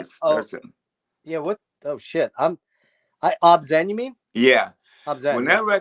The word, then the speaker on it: Obzen: or Omai or I don't know how you pronounce it. It Oh, starts. yeah. What? Oh shit. Obzen.